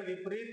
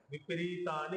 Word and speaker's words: विपरीतानि: विपरीतानी केशव विपरीतानी केशव आता बघा दीर्घ उच्चारण केलंय विपरीतानी केशव नाहीतर आपण म्हणताना विपरीत असं म्हणतो तर विपरीत असं म्हणल्यानंतर इकार छोटा म्हणतोय आपण बी मध्ये तर